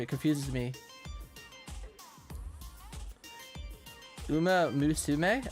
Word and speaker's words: Uma Musume: Uma musume. Oh, it's mus.